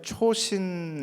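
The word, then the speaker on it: 長津: 헷갈렸다 라고 얘기를 하는게 미국 자료에는 초신 이라고 나옵니다 2초 신 이라는 게 장 진호의 일본어 발음 입니다 초신 이라는게 내장재 놀았는데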